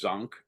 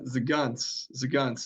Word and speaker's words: Zgonc: I'm assuming it's Zonk, but I'm going to let you take it from there. Yeah, Zagunts is, you got to try to fit all of that into one syllable.